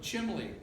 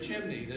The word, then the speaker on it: chimney: He would say Rockweiler instead of Rottweiler, or Chimley instead of chimney.